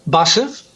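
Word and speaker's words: バス: Bus is busse, and train is densha.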